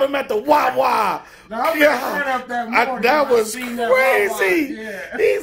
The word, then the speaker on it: Wawa: Wawa.